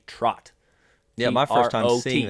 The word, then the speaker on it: trot: I came to understand most people are saying it wrong they're saying trout line which is a misnomer it is just a misunderstanding of what is actually called it is a trot yeah my first time